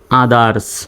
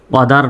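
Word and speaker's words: others: ওটি এসই আর এস আদারস যদিও বা ও আছে কিন্তু ওর মত উচ্চারিত এখানে হবে না আর মত উচ্চারিত হবে আদারস এটাও একটা ব্যতিক্রম অদার নয় আদারস টু ই এক্স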